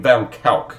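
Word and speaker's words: van Kuijk: Van Kalk is the way you pronounce the last name.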